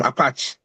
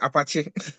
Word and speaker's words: Apache: Um so I think uh the software they used the from Apach they release a fix for their software. You call it Apach? Yes. Apache.